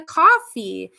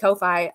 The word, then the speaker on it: Ko-fi: It's coffee apparently. I always pronounce it Ko-Fi because that's what it looks like. If you want me to pronounce it coffee, why'd you put the hyphen?